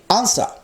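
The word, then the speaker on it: answer: দেখো ডাব্লুর উচ্চারণ নেই, আনসার।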